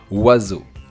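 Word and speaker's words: oiseau: here it's ZZ and EAU together make the sound "O" and of course we don't pronounce the last consonant so we pronounce it "WAZO" yes yes, we do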